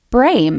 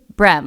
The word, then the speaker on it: Brehm: on the brain because our last name is pronounced brain yeah but if you look at our last name brem brem yeah it's b-r-e-h-m everybody says brem like you know like and i say it's